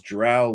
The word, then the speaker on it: drow: Ed Greenwood says his drow like cow, but he also says either way is acceptable.